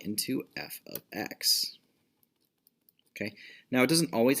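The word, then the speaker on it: f(x): F of x, this is one symbol, okay? It is not multiplication. Not multiplication. It's not f times x. It's pronounced f of x.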